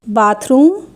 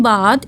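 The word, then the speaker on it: bathe: तो उसे हम थर रीड करेंगे for example बाथरूम toothpick toothpaste in example में टी एच के जस्ट बाद एक कंसोनेंट है सो हम यहां पे थ रीड करेंगे अगर लास्ट में टी एच के बाद ई आ रहा है तो द रीड करते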